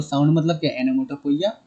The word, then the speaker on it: onomatopoeia: Sir next हम आपका पढ़ते हैं सबसे इजी, एनोमोटोपोइया। ओनोमोटोपोइया नहीं बेटा, ओनोमाटोपोइया ऐसा कुछ नहीं, एनोमोटोपोइया। पहले प्रोनाउंसिएशन करेक्ट करो अपना, एनोमोटोपोइया, ठीक है।